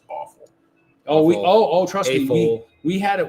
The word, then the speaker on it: AFOL: That was some pronounce adult fan of Lego or AFOL as awful.